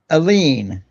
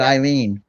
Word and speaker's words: Elene: Elene. I just had to make sure I got it right. I almost said Eileen. Elene.